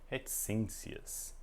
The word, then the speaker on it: reticências: Acentozinho circunflexo aqui, é assim, reticências. O C fazendo som de S, né?